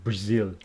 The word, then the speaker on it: Brazil: was born in Brazil with the stress on the second syllable Brazil oh so you weren't